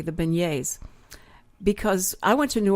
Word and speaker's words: beignets: great and you know I'm so glad you pronounced it correctly the beignets because I went to New Orleans and I'd